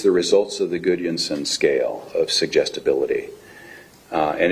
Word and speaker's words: Gudjonsson: Gudjonsson. How's my pronunciation? Perfect. It was very nice.